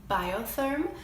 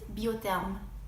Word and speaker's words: Biotherm: a lot of you are familiar with is biotherm which is actually pronounced Butte them so while we're talking about French skin care